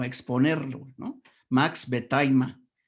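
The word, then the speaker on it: Max Wertheimer: El segundo se pronunciaría Max Vetaima, para que lo pronuncies adecuadamente cuando lleguen a comentarlo o a exponerlo, ¿no? Max Vetaima.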